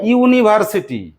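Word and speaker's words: university: কেমন উচ্চারণ করছি? ইউজফুল। ইউজফুল। ইউনিভার্সিটি।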